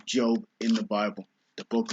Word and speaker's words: Job: I know it looks like it's pronounced Job, but it's pronounced Job in the Bible, the book of Job.